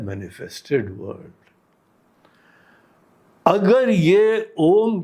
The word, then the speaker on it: ओम: ओम बोलते हैं ना तो शुरुआत में अ में बहुत ऊंची आवाज आती स्पष्ट आवाज आती उ में थोड़ी मंद पड़ती है म बोलते ही धीमे धीमे मुख ही बंद होने लगता है और यह कारण भूत चीज जो है उसमें लीन हो जाती है यह ओम का उच्चारण